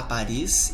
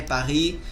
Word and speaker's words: Paris: Paris, não pronunciamos consoantes finais.